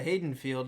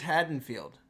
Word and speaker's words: Haddonfield: as we said I said let's go to Hayden field and apparently uh as you guys have both correctly pronounced it this way it is haddenfield I've been saying it wrong for I don't